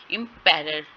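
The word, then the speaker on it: emperor: इम्पेरर, ठीक है, इम पे स्ट्रेस होगा, पैरर पे स्ट्रेस नहीं होगा।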